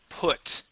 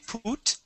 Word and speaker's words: put: here at the word put okay so instead of using a long u and saying put okay this is p put all right yeah